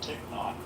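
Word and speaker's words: Thích Nhất: And for whatever it's worth, his name is pronounced Thich Nhat.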